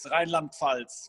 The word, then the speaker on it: Rheinland-Pfalz: So I think the name of the county is Rheinland-Pfalz, but it's divided in two parts.